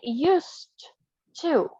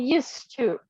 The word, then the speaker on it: used to: you pronounce it correctly we say used two yeah it joins used oh okay used to okay it sounds yes he used to okay next example Caleb